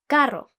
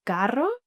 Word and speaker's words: carro: they prefer to say carro because that sounds similar to the word car that they know. But some others still have a problem with the pronunciation of the double R.